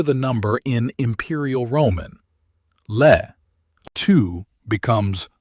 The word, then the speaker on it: Le II: Le II Read it phonetically and it splits into two syllables. Le II Le II Now, do the thing